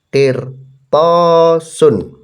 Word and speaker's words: qirtasun: Ada qaf di kasroh, bacanya kemarin i ya, jadi i ya. Kemudian ada ro, ada sukunnya disukun berarti mati ya. Qir langsung ya. Ada po di fathah, bacanya po. Qir po. Alif tidak ada harokatnya, ini berarti namanya mad, ini untuk memanjangkan po. Qir po gitu ya, jadi lebih panjang. Sin ada tanwin domah, itu bacanya sun jadinya. Qirtasun.